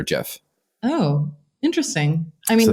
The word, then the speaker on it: GIF: But until then, there was an article that came out that the creator of it actually said that it was pronounced like the peanut butter GIF.